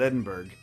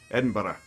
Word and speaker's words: Edinburgh: when they hear someone say Edinburg it's not Edinburg just think of bread and butter bread and butter bread and butter bread and butter bread and butter yeah edinb right that's the way to pronounce it I actually learned that